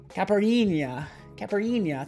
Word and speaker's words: Caipirinha: Caipirinha.